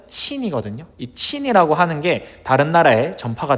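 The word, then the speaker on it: 秦: 이것은 저쪽 서역 뭐 따지자면 페리시아 지역까지도 널리 알려지게 됩니다.이 진이라고 하는 거는 중국어 발음으로는 친이거든요.이 친이라고 하는게 다른 나라에 전파가 되면서 오늘날 차이나라고 하는 중국 국가 이름의 유래가 되었습니다.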